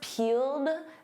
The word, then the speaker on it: peeled: And of course, peeled, that ED is a soft D.